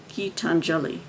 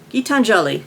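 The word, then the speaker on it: Geetanjali Shree: frame it's set in I didn't pronounce her name correctly gitan jalishri gitanjali gitanjali okay gitanjali Shri is the author's name 80 year old ma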